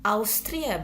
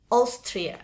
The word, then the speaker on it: Austria: Simbol ini biasanya diproduksi oleh atau bisa diucapkan pelafalannya oleh huruf-huruf O. Beberapa itu oleh huruf A. Contohnya pada kata Austria. Oke, bukan Austria bacanya tapi Austria.